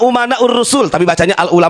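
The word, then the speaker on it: أمناء: Rasul walaupun si Bahar Salah bacanya bukan Al ulama Uman Rasul Al ulama amanur Rasul katanya pintar goblok itu bukan pintar bukan amana u umana saya benerin ya itu yang dikajian di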